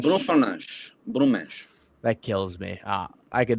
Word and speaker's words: Bruno Fernandes: I always think of the Portuguese, the like full correct Portuguese. Bruno Fernandes. Bruno Fernandes.